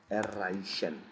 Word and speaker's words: erreichen: Erreichen. See, ch is after ei.